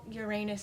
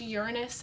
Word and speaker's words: Uranus: was near uh was it uranus i know uranus is not how you print are supposed to pronounce it supposed to be pronounced uranus actually so the ring has formed there and